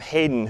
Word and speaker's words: Hayden: classrooms in it and is named after not heyen the composer even though it's spelled that way it's named after heram Hayden who was the fifth President of the University uh the Western Reserve University that